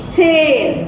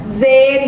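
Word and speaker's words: zehn: jadi bacanya Noin kemudian 10 ini Ce cin ya Cin bukan Zin bukan Zen tapi Cin gitu ya Nah ini adalah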